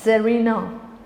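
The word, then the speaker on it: czar: जार ज़रीना, English में भी जार और ज़रीना सी इज साइलेंट।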